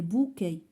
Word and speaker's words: bouquets: Des bouquets. s à la fin ما كنطقوهاش.